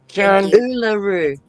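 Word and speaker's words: Uluru: Oolaroo.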